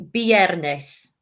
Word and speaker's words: viernes: You say viernes. Now be careful, it's pronounced with a B, not a V.